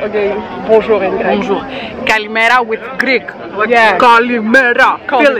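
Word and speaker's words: καλημέρα: Kalimera with Greek.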